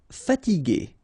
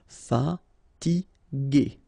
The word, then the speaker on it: fatiguer: Okay, remember that we had this G and E normally, so G, E, R without the U should be pronounced like G. Okay, so if you want to modify the sound and then to have this G, okay, you will have to add this U between the two.